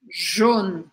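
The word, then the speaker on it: jaune: é o JN Jon a letra A com u tem o som de o em francês então a gente não fala au mas a gente fala o jun e de novo a letra e no final não é pronunciada Poxa Elisa quanto detalhe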